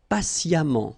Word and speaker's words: patiemment: Patient, and then patiemment. So as I told you, even if you write it EMMENT, phonetically it goes like amant, patiemment.